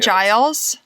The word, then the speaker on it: Giles: Is this the story of Giles Corey? Yes. Is that how you pronounce it, Giles?